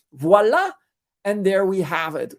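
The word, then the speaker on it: voilà: 10 to 15 Expo voila which is French for there you have it which is best pronounced with a French accent voila and there we have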